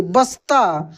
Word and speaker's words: बस्ता: क्या लिखा है बस्ता यानी ब आधा स और ता ऐसे बस्ता जैसे यहां पर लिखा